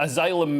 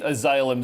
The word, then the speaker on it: asylum: Asylum, a soft S.